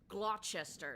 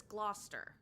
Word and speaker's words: Gloucester: It is Worcester or like some people pronounce things like Haverh Hill. No, that's Haveril or Glchester. It's like, no, that's Gloucester.